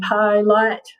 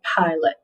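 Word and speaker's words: pilot: does that sound right the pi light plants flew the plane nope so we change that short vowel marking to the uh sound because that is the unstressed syllable in pilate all right okay now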